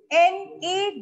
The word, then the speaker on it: gnaw: are called gnawing animals g is silent in this you have to pronounce